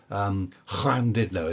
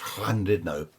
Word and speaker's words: Llandudno: Llandudno, is that how it's pronounced? Llandudno, up the top of Wales there.